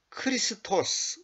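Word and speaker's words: Χριστός: 그분을 리스토라 그러는 거예요 영어로 크라이스트 그러잖아요 크라이스트 그거는 번역이 아 표현이 발음이 이제 왜곡된 거고 원래는 크리스입니다 그게 헬라어로이 고대 그리스어로는 크리스토스 이렇게 돼 있거든요 크리스도 죄들로 인하여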